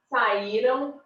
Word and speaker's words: saíram: Saíram, saíram, leram, leram, nadaram, nadaram. Olha a diferença na hora da pronúncia.